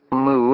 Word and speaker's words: Moo: I particularly adored Queen Moo, pronounced Moo as in cow, a prehistoric and purely fictitious Mayan queen whose brother Ac murdered her husband Co, so Moo fled to Atlantis.